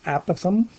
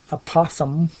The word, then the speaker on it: apothem: Some people pronounce it apothem. I think the correct pronunciation is apothem.